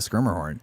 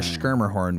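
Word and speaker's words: Schermerhorn: or Symphony Orchestra at the scrimer horn yeah and I skir horn the skir horn which you don't learn how to pronounce until you've been here 10 years yeah you can uh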